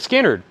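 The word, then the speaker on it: Skynyrd: I wish they were all pronounced and second helping, but it's Skinner.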